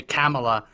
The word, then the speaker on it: Kamala: Apparently, if you say Kamala, you're mispronouncing her name. So apparently it's supposed to be Kamala.